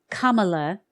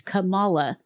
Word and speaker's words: Kamala: what I find hilarious is the way they're pronouncing her name Kamala is not how it's pronounced and not even how she not even she herself used to pronounce it that way Camala or Camala actually it's Camala Camala is the Indian name that her Indian